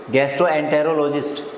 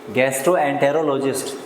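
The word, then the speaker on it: gastroenterologist: ये है गैस्ट्रोएंटेरोलॉजिस्ट, गैस्ट्रोएंटेरोलॉजिस्ट।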